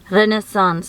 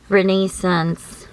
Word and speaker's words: Renaissance: It's a French word, char. Renaissance, or kung usual na to i-pronounce, Renaissance.